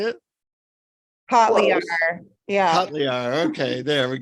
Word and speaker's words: Kotlyar: Kotlyar.